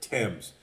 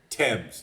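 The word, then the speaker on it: Thames: that goes through London they pronounce it temps and I've heard a lot of people mangle this that is the way you pronounce it River temps so sorry to be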